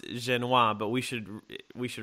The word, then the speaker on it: Jenious: I know I know your last name is pronounced genoise but we should we should really pronounce it